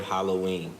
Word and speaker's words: Halloween: break down the word Halloween okay Hollow wind two syllables Hollow excuse me not Hollow when it's three syllables but um Halloween the term Hollow ween